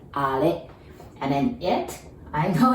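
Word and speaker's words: あれ: We say are. I know it's written R, but we say are. And be careful with the R, okay? That's are.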